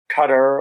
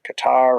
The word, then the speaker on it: Qatar: when I go there, they pronounce their country. It's not as Qatar and not as Qatar either, but it's something somewhere in the middle.